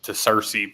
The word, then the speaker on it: Searcy: They pronounced it Searcy. Okay. On TV. He corrected himself later to Cersei, but there's been multiple games that somebody from Cersei, that's how the announcers pronounced it.